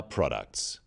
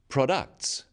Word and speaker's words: products: So, conclusion, not conclusion. Products, not products.